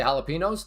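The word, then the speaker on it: jalapeños: Enos. Not enyos.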